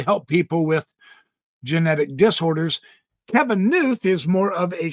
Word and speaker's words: Kevin: Tonight I want to share some ideas from physicist Kevin Knuth. I've heard his name pronounced Knuth, K-N-U-T-H.